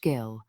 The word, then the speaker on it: gill: one gill, pronounced gill, one pint, etc.